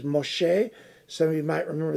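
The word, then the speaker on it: משה: reason for the name the name in hebrew for moshe moses is moshe some of you might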